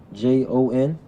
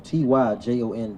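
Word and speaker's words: Ty'Jon: Tijon Jackson. I'm sorry, I'm sorry, Tyjon Jackson. And Capital it's J. pronounced Tyon.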